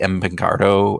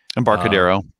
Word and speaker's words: Embarcadero: the the highway in san francisco is the empancardo i i always pronounced that wrong embarcadero embargo there was a you know the freeway